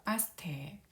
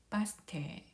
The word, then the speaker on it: バス停: 그래서 바스테라고 하면 버스 정류장인데 테이를 보면은 에 모음 뒤에 이 모음이 와서 에 장음으로 발음하면 됩니다. 그래서 바스테, 바스테, 바스테, 버스 정류장이 되겠습니다.